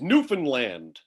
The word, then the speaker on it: Newfoundland: neither uh it's it's newfoundland okay you would definitely emphasize land at the end it's not linder uh